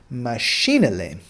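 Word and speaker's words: mașinile: cars you're gonna say machine elaine machine Elaine so you're gonna have the same emphasis with the I but an e i le on the end so machine Elaine all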